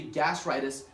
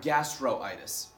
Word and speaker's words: gastritis: So it should be gastritis, not gastroitis. Okay, that O is irrelevant. It is unneeded for pronunciation needs.